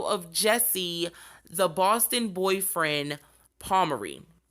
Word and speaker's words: Pomeroy: jesse the boston boyfriend palmeri i have been saying his name wrong all night and now that i have gotten some sleep i can say it right palmery now jesse was born